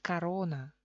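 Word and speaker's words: корона: Eso es la reducción cuando se escribe corona, oficialmente es corona, pero se pronuncia carona. Eso es la reducción cuando O se convierte en una A.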